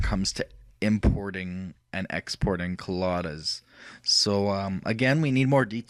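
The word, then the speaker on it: COLLADA: improved the way uh colada K kala colada however you want to pronounce it I pronounce it colada um so it's the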